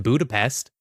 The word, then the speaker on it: Budapest: but this movie was filmed in Budapest pronounced budapes budapes yeah yeah well it